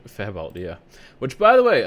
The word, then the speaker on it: Fabwelt: Fabwelt, yeah.